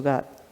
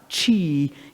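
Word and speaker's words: qi: image that goes with the word g or chi as it's spelled so die means the greatest and g means polarization separation two ends of one thing so that's what's going on in the name it's not chi in your body is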